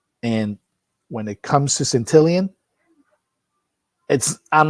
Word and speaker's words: Santillan: It's Santillan, Giovani Santillan. Santillan, my apologies. Thank And you. yeah, he gets his last name butchered a lot.